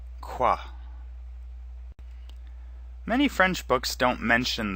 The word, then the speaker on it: quoi: like them to repeat you can simply say quoi and it's pronounced like Q W a qua qua many French books don't mention that quoi can